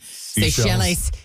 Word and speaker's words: Seychelles: How is it pronounced? I always saw the word, but I never knew how to... Seychelles.